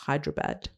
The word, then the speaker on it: Hyderabad: that in India, in the south, which is Hyderabad.